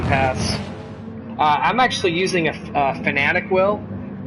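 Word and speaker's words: Fanatec: I'm actually using a Fanatic wheel. It's spelled F-A-N-A-T-E-C.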